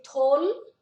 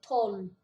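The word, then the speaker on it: tolv: Aqui, tol, a gente não pronuncia o V, é como se ele não existisse, e passa a ser tol.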